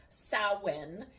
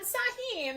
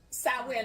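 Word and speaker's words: Samhain: It's also called or pronounced sawin. And I have to look at the, um, phonic spelling of it. Otherwise, I always pronounce it wrong. I used to pronounce it just like it looks.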